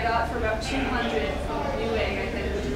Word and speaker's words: Newegg: Yep, new egg.